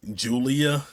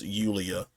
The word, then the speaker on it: Yulia: Now, you can easily pronounce it Yulia, but I think the captions on that I had on was pronouncing it as Julia, and so, but I believe it's pronounced Yulia.